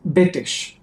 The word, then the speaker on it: Betesh: And I pronounce it the way we said it's Betesh. In Hebrew, we say Betesh.